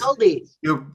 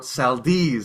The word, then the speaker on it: Seldes: We thought it was Seldies. Gilbert Seldes, but then we listened to the radio show, the clip where Jack is doing it, and it's Gilbert Seldes.